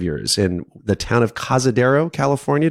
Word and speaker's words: Cazadero: in the town of Cazadero, California. Did I say it properly? You said it correctly.